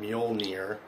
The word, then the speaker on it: Mjolnir: I figured out that that's how you say it, Mjolnir.